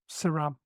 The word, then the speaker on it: CERAM: relationship building and management saram so you can see the pronunciation there and this is a